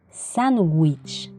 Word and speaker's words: sándwich: origen inglés por ejemplo la palabra sándwich se lee como una que sándwich sandwich o waterpolo el otro